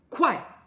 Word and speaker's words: 快: 好，那就是快。我们第 2 个快的字是快，快，fast 或者 soon 的意思。